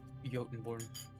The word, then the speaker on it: Jotunborn: Jotunborn. Yep. It's pronounced as a Y.